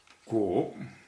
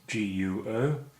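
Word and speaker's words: guó: Our next character is Guo. Pinyin is G-U-O, and this is second tone, which is a rising tone.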